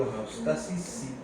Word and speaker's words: homeostasis: Y la palabra homeostasis se acentúa en la penúltima sílaba.